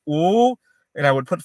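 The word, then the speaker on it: 五: minutes, and I would in Chinese 5 is pronounced "ooh," and I would put 5 fingers up and go "ooh," and it has become a shorthand for not yet, right?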